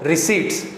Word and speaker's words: receipts: पी इसमें जो है वो साइलेंट होता है, तो ध्यान रखना क्या बोलेंगे इसको, रिसीट्स।